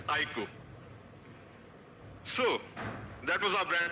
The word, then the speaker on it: iQOO: The pronunciation is IQOO. I emphasize again, it's IQOO.